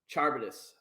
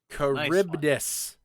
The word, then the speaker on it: Charybdis: We're going to go with Charbitus from Decap. Ooh, Charybdis. Charybdis. Charybdis, bro. What? I never would have pronounced that correctly.